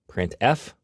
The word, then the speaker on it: printf: these three are the most popular they are pronounced printf putcar and puts each function is designed to